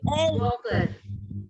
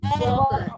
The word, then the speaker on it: Walker: Which letter is silent here when we say Walker? Walker. L. L. L is not supposed to pronounce. So L is a silent letter.